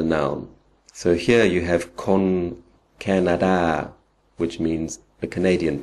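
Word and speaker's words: คน: which one it is, but a rule of thumb is that if it's a single syllable word, it's usually an o. If it's the first syllable in a two syllable word, then it's a. Otherwise, it's o. So this word, being just one syllable, is con, and that means person or people.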